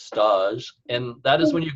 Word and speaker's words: stage: ever heard of stocking it's spelled stage s tage but it's stodg and that is when